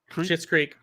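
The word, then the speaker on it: Schitt's Creek: the finale of uh shit's creek is it that's how you say it yep shit's creek but i stand by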